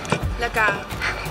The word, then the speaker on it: La Gare: La Gare.